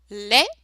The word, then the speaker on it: lait: Bas, drap, lait, so AI is the sound E, lait.